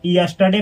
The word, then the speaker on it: yesterday: ऐसे ही यस्टरडे, इसको यस्टरडे पढ़ा जाता है, YESTERDAY, यस्टरडे। इसमें आर जो है ना इसका प्रोनाउंसिएशन नहीं किया जाता है, यस्टरडे, यस्टरडे।